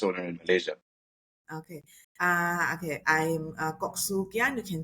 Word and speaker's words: Kok Siu Kian: So today I am with Kok Siu Kian. Am I pronouncing that correctly?